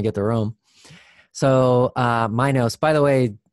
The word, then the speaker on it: Minos: to rome so uh my nose by the way people in europe usually pronounce it minos um it doesn't matter